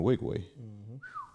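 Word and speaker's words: Nwigwe: one of my favorite rappers is Toby the Wigway. Monster, right? Not only is that how you properly pronounce his last name?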